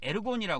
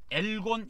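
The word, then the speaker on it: ἔργον: 그래서 이제 이걸 헬라어는 에르곤이라 그래요 에르곤 헬라어는 에르곤이라고 이야기하는데 에르곤 또는 엘곤 이렇게도 발음을 합니다 엘곤 에르곤 이렇게 이야기하는데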